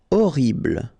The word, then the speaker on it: Horrible: Horrible. Okay, first letter is H, but then we don't pronounce H, so you don't pronounce it. And the first thing you hear is O.